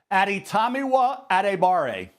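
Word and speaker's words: Adetomiwa Adebawore: Pronounce his name again for me, Mel. Aditamiwa Adibare.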